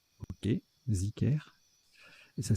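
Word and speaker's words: zikr: Alors, ça se prononce Zicker, ok, Zicker, et ça s'écrit D-H-I-K-R ou Z-I-K-R.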